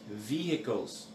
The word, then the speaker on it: vehicles: V-E-H-I-C-L-E-S. It's pronounced vehicles.